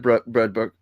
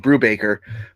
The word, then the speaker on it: Brubaker: Sleeper by Ed Brudbook. Sorry, I just butchered his name. Brubaker.